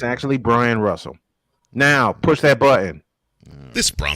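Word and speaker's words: Bryon Russell: Byron Russell. Brian. No, it's actually Brian Russell, just spelled with an O. Oh, okay. It's actually Brian Russell.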